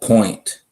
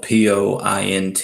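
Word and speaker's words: Poynte: was just talking about the band's called point but it's not spelled like how you would normally spell the word point you know it's not spelled P o int they they spell it a different way they spell it P o Y n te point and they have an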